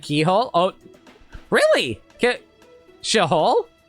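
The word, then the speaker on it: Cichol: view brother please wait it's pronounced like Keyhole oh really Shah k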